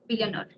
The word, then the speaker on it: billionaire: So, first of all, check your pronunciation of billionaire. This is not nair, it is billionaire.